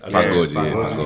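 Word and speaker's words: pagode: Pagoji.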